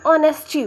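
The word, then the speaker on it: honest: ऑनेस्टी जो है ये एच से जरूर स्टार्ट हो रहा है। ये कंसोनेंट है। लेकिन अगर हम इसका प्रोनाउंसिएशन करते हैं तो ऑनेस्टी निकल। ऑनेस्ट चीज़ का प्रोनाउंसिएशन निकल रहा है।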